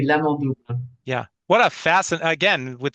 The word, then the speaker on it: L'Amant double: Am I pronouncing that l'amant correctly? double. Oui, l'amant double Yeah.